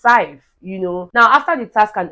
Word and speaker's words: Saif: call Saif and then he pronounced it as Sif. And Sif was really quick to say, Biggie, it's Saif, Now, after the task